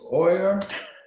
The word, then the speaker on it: euer: That's euer. Okay. That goes here too. Sorry, how do you pronounce it?